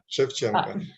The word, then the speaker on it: Shevchenko: You'll have to help me pronouncing that, Boris. Shevchenko.